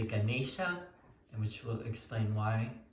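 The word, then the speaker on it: गणेश: Other words that get mispronounced a lot are like Ganesha. I mean, people say Ganesh or Ganesha. It's really Ganesha, and which will explain why it is today.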